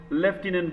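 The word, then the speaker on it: lieutenant: schedule tribe beside एंपावरिंग लेफ्टनंट governor spelling बड़ी मस्त है नोट करने का ठीक है स्पेलिंग जिनको डाउट है लटने लूनेट लेफ्टिनेंट कहीं कहीं एफ नहीं है लेकिन बोलना पड़ता है और पहली बार आपने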